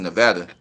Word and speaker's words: Nevada: I pronounce it Nevada.